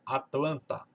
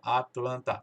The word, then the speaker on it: Atlanta: palavra, ele não fala Atlanta, fala Atlanta, Atlanta. Até parece que esse T não existe. Parece que ele vai comer esse T aqui e fica Atlanta.